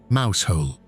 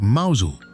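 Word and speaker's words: Mousehole: Number 14, Mouse Hole. On the western tip of Cornwall, a fishing village pronounced mausole by anyone who lives there and mouse hole by everyone else clusters around a tiny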